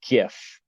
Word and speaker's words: GIF: they're spelled gif yes yep how do you pronounce that that would be a gif like a gift without the tea okay that